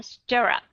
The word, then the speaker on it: stirrup: Nhưng mà trong cái chữ stir, rup ở đây thì các bạn đã đọc là schwa sound.